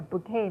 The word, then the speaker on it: bouquet: Okay, a bouquet means a bunch of flowers, but bouquet is a beautiful word. It's from French.